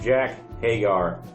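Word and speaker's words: Jake Hager: Match number 3 of the night, we have Jack Hagar.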